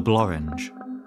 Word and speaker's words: Blorenge: smooth termination of the Blorenge the Boren or Boren in Welsh is an odd name it's one of the few English nouns to rhyme with orange and that might not